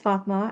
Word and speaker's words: Fatma: So my name is Fatma as you're very rightly pronouncing it.